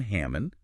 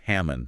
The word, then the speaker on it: Hammond: devotional by Elder Dan Hammond and just a quick note that's pronounced Hammond not Hammond great hamon so if